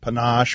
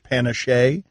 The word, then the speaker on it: panache: was on PTI I called it instead of panache Panna Shay they still make fun of me there's a